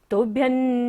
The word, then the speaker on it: तुभ्यं: हमेशा न वर्ग, तो हमेशा बिंदी का उच्चारण क्या होगा? न। तुभ्यं नमो जिनभवो दधि, भवो दधि शोषणाय।